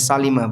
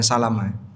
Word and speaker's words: Salimah: Kampung Bani Salimah yang lebih tepat bacanya Salimah bukan Salamah.